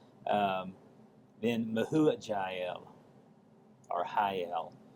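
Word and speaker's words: Mehujael: Um then mahu jael or hel if the j is pronounced as an h.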